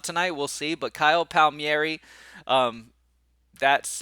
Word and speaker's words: Palmieri: downfall works out tonight we'll see but Kyle Palmieri um that's how you say his name by